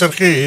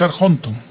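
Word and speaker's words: ἀρχόντων: Pero aquí no es arge, es arjonton.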